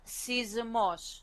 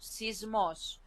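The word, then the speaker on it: σεισμός: this word this example we will pronounce it as seismos sismos so this uh Epsilon Yota for us it's an e sound we don't separate it anymore because we try to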